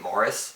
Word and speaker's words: Maurice: about a gay relationship it's called maurice i've heard people pronounce it morris like if i enjoy